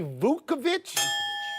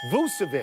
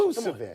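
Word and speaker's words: Vučević: Did you say Vukovic? Vucevic. Get the pronunciation. Vucevic.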